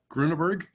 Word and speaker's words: Grunberg: say your last name grunberg grunberg three three syllables grunberg yeah that's it Bill